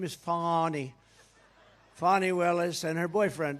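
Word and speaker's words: Fani: right has anybody fonnie it's pronounced fonnie F A ni I that's Fanny but she likes it fonny when she became the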